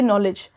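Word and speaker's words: knowledge: जैसे कि नॉलेज, तो नॉलेज में कहीं पे भी के प्रोनाउंस नहीं हो रहा है, तो जो ऑडिटरी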